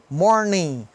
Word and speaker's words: morning: o ING aqui, porque o ING também é interessante que a gente não pronuncia o G. Working, morning. Então não é working, nem morning, né? Não tem I nem G. É working, morning.